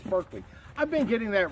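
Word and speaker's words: Berkley: pound extra tough no not trilene it says berkeley i've been getting that wrong every one of these giveaways i'm saying the pronouncing the name of the product wrong so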